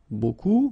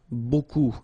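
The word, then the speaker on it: beaucoup: If you want to use buku means a lot of it look it looks a bit strange buu like that remember you don't pronounce the final p okay and then you've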